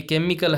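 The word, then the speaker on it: chemical: है, चेस है, ये केमिकल है, ये चेयरमैन है। तो यहाँ पे देखो ये केमिकल में क आ रहा है, बाकी सब में चे आ रहा है, तो ये अलग हो गया, आराम से आप कर सकती हैं।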